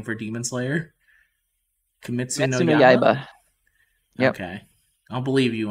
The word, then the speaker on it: Kimetsu no Yaiba: I don't know how to pronounce the Japanese name for Demon Slayer. Kimetsu no Yaiba.